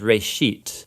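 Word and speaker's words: רֵאשִׁית: It's pronounced reshit, and it just means beginning.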